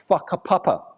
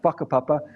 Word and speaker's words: whakapapa: In Aotearoa, New Zealand, for example, Maori people talk about the concept of whakapapa, spelt with a WH, not an F, whakapapa, which is their word for genealogy or lineage.